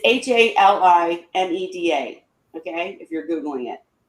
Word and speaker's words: Halimeda: but one person got Halimedia. I can never say it right. Halimedia. Sounds so stupid. The green, it's Halimeda.